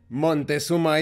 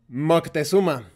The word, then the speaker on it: Moctezuma: For example, it's not Montezuma, it's Moctezuma.